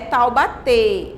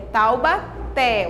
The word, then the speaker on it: Taubaté: palavras um som aberto taubaté não é tal bater é taubaté o acento agudo traz